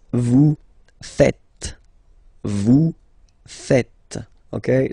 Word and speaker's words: faites: It's vous faites. Vous faites. Okay? So remember, final S here is not pronounced, and then this E is not pronounced either.